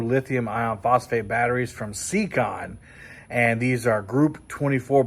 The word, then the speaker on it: Siekon: I'll talk about those more later but uh secon secon is how you pronounce the brand name they are smaller than